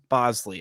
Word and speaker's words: Boushley: He gets 9 strikeouts on you, but then Caleb Bosley. Yes, it's spelled BoushleY. It is pronounced Bosley.